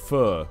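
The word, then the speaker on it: phở: I know, it's pronounced pho.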